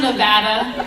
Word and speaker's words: Nevada: Nope. It's pronounced Nevada.